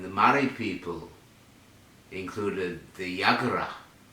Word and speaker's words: Yagara: Murray people included the Yagara. The Yagara, they also pronounce it Jagara.